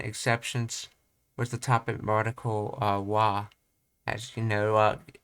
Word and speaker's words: は: wa, as you know, gets spelled with the character ha when it's a particle, and it's pronounced as a particle as wa, and as a word it gets pronounced as ha.